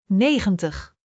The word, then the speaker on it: negentig: Negentig, .